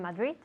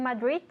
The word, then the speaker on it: Madrid: Because in Spanish, Spanish people tend to drop the D. What city are we in, Esther? We are in Madrid. Again? We are in Madrid. Madrid. Madrid, yes. This is why the guiris, like me, we say Madrid. And if if you say to a native English speaker, I am from Madrid, they will say, Madrid? Where is that?